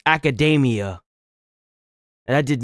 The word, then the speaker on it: Academia: You know what I didn't realize is that it's not it's weird because in in the anime itself they call it My Hero Academy, but the way this is pronounced is academia.